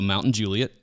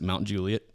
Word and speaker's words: Mount Juliet: Or we have a Mountain Juliet. But if you're from here, you pronounce it Mount Juliet.